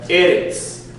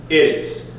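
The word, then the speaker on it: ארץ: Anytime you have Eretz, as in earth, Eretz. Okay? Even when it takes the Eva, Haaretz, the emphasis goes on the first syllable.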